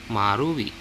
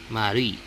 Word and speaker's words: 丸い: 丸い So it's a very fast U on the root. A very fast U on the root. So it's like marui. 丸い Very fast that it would almost sound like as if mari. 丸い But it's marui.